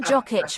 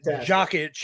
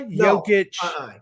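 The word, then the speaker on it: Jokić: Majesty uh because uh that was the best pronunciation of jock itch I've ever heard so listen listen no no no no no no no no no no no no Nicola jokic you're not doing it you're not starting on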